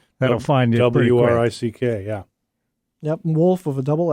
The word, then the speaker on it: Wolff: find w-r-i-c-k yeah yep wolf of a double f that's right so the the front w is silent and the back f is silent my name is encapsulated